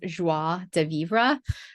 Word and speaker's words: joie de vivre: I love, it's actually pronounced joie de vivre, and it is like exuberant joy of life, right?